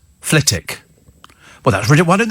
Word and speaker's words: Flitwick: not be actually uh one here uh Steve Flitwick it's not it's actually pronounced ftic well that's rid why don't they spell it